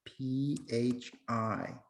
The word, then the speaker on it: phi: Or you can use the Greek letter phi, P-H-I. Sorry, I'll do a better job. Okay, this is pronounced phi, and if you want to write it, that's how it's spelled.